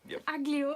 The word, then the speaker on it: aglio: And yesterday I ordered pasta aglio e olio, which Aglio. It sounds like ugly, disgusting. aglio, not ugly, but Italian.